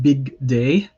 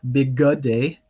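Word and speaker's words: בִּגְדֵי: So you have big day. So again, that shva here is silent. It's big day, not big good day.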